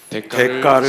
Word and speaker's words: 대가: 여러분 한번 설교 제목을 한번 같이 읽을게요 시작 대가를 치러야 대가가 된다 자 우리가 이제요 대가라는 단어가 우리가 보통 이제 이렇게 발음할 때 대가라고 하지만요 글자는 맞더라고요 데에다가 시옷이